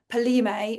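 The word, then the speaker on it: Kpalimé: up to um uh a place called Paley, which has got a K at the front of it that you don't pronounce.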